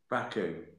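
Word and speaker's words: Braquo: thank you very much um how do you spell that series i think it's b-r-a-q-u-o raku so maybe i'll do two a week maybe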